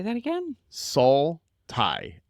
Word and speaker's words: Saul: Saul Tie. Saul, like Better Call Saul.